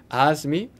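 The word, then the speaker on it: AIME: the aah SM II which we pronounced as the as me and then you do the ask me there was no ask me 10 or ask me 12 there was just the Oz me and then after that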